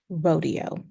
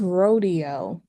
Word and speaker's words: Rodeo: and you keep driving eventually it's going to turn into Rodeo spelled the same r o d e o but you are not in Beverly Hills it is Rodeo when you are in